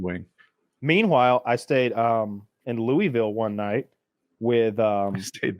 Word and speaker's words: Louisville: Meanwhile, I stayed in Louisville one night with I stayed there too with some bad motherfuckers from Canada, and they were scared. That's how rough Louisville is. Louisville was these guys, really disappointing.